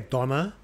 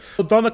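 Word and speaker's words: döner: eaten and we D is that how you say it DNA we say Donna um Donna's really big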